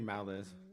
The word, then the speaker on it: Malice: It's actually Malice. You pronounce the L because there's only one.